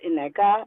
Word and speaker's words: Nneka: I think with Nneka, and that's how her name is pronounced, not Nneka, it's Nneka. Nneka.